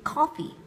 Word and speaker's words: coffee: Cái từ coffee chúng ta đọc cao hơn là cái âm cough, đúng không nào? Coffee. Cái âm của chúng ta sẽ như thế này, trọng âm nó ở đây và chúng ta đọc xuống giọng ở từ này, được không nào?